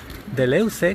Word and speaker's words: Deleuze: él esta divulgación que hace de leuze que es un filósofo posmoderno como decíamos ayer muy famoso se pronuncia algo así como dulce muy célebre y que